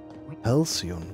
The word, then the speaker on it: Halcyon: Halcyon wird das ausgesprochen, okay.